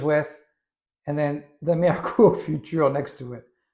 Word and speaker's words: Futur: adjustable razor, the Meur Futur. If you're pronouncing it like a German futur, I'm doing my best. I'm probably throwing in a bit of French accent in there as well.